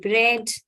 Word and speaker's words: bread: diphthong a y then silent a in the word bread then soft a as